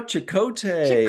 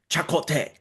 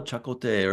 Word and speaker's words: Chakotay: Remember how she started pronouncing it differently, like in the second or third season when there was like a Yeah. Native American that like visited and he started calling him, oh, Chacote or something like that.